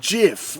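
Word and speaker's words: GIF: It's pronounced Jif, like the peanut butter.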